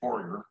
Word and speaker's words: Fourier: and i try to i speak french i try to pronounce the french a little bit as best i can uh and americans will typically say fourier we see his name